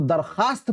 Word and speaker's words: दरख्वास्त: वो वाव साइलेंट हो, जैसे कि दरख्वास्त को दरखास्त पढ़ते हैं, खवाब को खाब पढ़ते हैं ना जे।